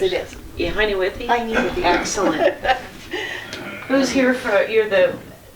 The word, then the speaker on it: Heine Withee: Heine, and I will say Heine Withee, but that's not the way you pronounce it, is Yes, it? it is. Yeah, Heine Withee? Heine Withee.